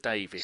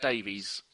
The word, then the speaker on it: Davis: bad away form Mr Davis so no I said Davis and not Davies it's about time you learned how to pronounce my name tidy lovely uh yeah